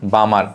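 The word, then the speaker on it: Balmer: তাহলে এটা হবে ভাইয়া বামার এই বামারের কিন্তু এল এর উচ্চারণ হয় না মনে রাখো আচ্ছা এটা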